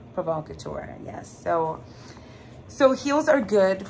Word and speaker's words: Provocateur: Garter belts, garters, he especially likes this one store agent, how do you pronounce it? Provocateur. Provocateur, yes.